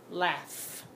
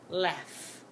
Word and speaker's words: laugh: what this word is laugh laugh do you hear how the GH is making the F sound I don't say that